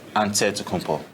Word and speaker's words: Antetokounmpo: how you pronounce it the nigerian way you gotta say with the d so it's a deadpool but in the greek way you say with the nc like antetokounmpo whatever you got just say